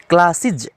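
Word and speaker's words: classes: फिर इसका जो उच्चारण होता है वो इज कहलाता है, क्लासिज, क्लासिज, ग्लासिज, इस तरह से।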